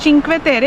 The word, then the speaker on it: Cinque Terre: The name of this location is चिंक्वे तेरे। इन Italian it's pronounced चिंक्वे तेरे।